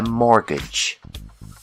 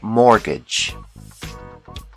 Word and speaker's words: mortgage: call this loan a mortgage the t is silent mortgage another common loan is